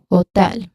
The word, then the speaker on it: hotel: So there's a dip thong there. O. Oh, that's a dip thong. So, I uses hotel. I use ho. I use O. I used a dip thong to make the word or make this first syllable in the word hotel, which is ho. So, it sounds like a hoe, like h o e, like uh gardening tool.